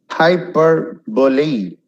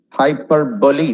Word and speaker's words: hyperbole: Hyperbole. I don't know if it's clear or not. Hyperbole. Hyperbole. It's not hyperbole.